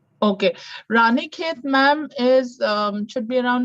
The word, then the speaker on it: Ranikhet: I've been trying to pronounce some of these. And Jasmine says that ashram is near Raniket. Okay, Ranikhet, ma'am, is should be around 1,800 to 1,000 kilometers.